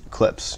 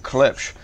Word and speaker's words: Klipsch: on the back and i'm saying clips not clips in the comments told me i was pronouncing clips wrong speaking of klipsch i'm giving away a